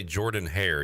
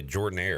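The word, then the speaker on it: Jordan-Hare: You don't say Jordan Hare. You say Jordan Air.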